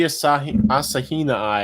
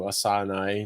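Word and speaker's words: asahinai: Asahina I have to start saying Asahina I. That's how Dr. Appel said it instead of Asana. It's Asahina I. It's a lot more syllables.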